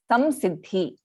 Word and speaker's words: samsiddhi: It is because of the second sa that this anuswara is pronounced as samsiddhi.